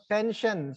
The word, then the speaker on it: tension: Sir, first syllable, 10. Which one is that? TEN. Tension, right?